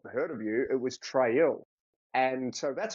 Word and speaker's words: Traill: yeah it's actually my my name's actually meant to be pronounced tril and is my great